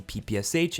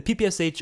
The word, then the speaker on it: PPSh: but the ppsh or actually how it's supposed to be pronounced is the pipisha i think is how it's supposed to be pronounced i think i heard someone say that on twitter but yeah so i'm just